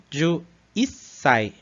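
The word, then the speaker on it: 十一歳: A gente vai ter aquela pausinha, ó, Ju-Issai.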